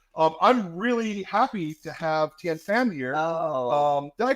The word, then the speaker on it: Thien: I'm really happy to have THIEN here. Oh, Did I pronounce that right, by the way? it's pronounced tin, just like Tin. a can. Oh, just but tin.